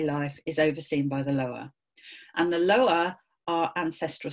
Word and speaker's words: lwa: This is spelled LWA. Sometimes you might see it spelled LOA, but they're the Lua.